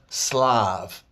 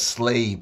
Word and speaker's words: Slav: Because first of all, like I've been saying over and over, it's that word Slav. They make you pronounce it as slave, but it's Slav, from Slavic people.